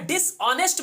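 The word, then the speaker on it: dishonest: next कि क्या रहेगा डिशऑनेस्ट में एक साइलेंट ऐड साइलेंट है अब डिपॉजिट मत लीजिएगा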